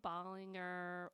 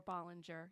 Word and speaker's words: Ballinger: absolutely my name is Ballinger or Ballinger you can pronounce it either way yeah um I've been